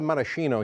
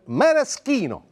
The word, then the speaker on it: maraschino: way we call it marashino here in the United States but in Italy we call them Maraschino CH is pronounced K so here we go